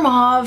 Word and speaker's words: mauve: and I just love mo colors or mauve however you want to pronounce a I know what's technically mo I like saying love